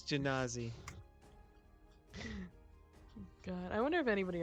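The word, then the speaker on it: Genasi: Not genocide. It's not Genocide. pronounced genocide. It's Genazi. Genazi.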